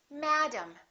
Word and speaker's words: madam: and higher in Pitch therefore this a is going to be louder it's going to be ah Madam Madam and this a is going to be completely different from this a they're two different sounds because one vowel is stressed and one vowel is reduced madam look at the